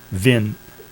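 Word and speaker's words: Wien: uh this this guy's name willheim Vin V is how you pronounce it I think he's he's pronouncing it Vin but it's V the hard e as German most strongly for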